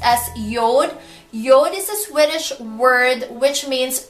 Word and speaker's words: Jord: your dispelled as Jay o Rd but it's pronounced as Yoda Yoda Swedish word which means earth land and